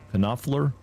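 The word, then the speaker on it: Knopfler: I'm probably not pronouncing his Kafer. Kafler.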